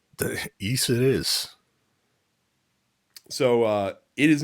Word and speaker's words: Ys: And I didn't know how to pronounce it until I heard Morgan Webb pronounce it in an X Play review. Mhm. And she was like, "It's East."